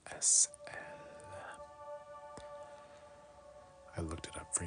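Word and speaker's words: aisselle: Pronounced S-L. S-L. Ooh, I like that. S, am I saying it right? S-L.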